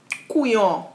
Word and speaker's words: couillon: Couillon. You pronounce it well. Yay! Your pronunciations are great.